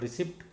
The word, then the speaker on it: receipt: Most of the time we people say this one as receipt. It is not receipt, it is receipt. P is silent.